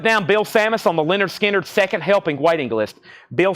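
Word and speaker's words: Lynyrd Skynyrd: I got a restock of pronounced Leonard uh pronounced Leonard skinnard this is the 2lp 45 RPM and Terry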